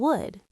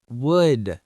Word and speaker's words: would: Many people don't pronounce the L in would. It's would, not would.